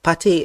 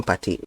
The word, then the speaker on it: Partey: viewers know him as Partey, but in Ghana, it's usually his name is called Partey. It's pronounced very, very short, Partey. That's the pronunciation, but everybody knows him as Partey, Partey, Partey.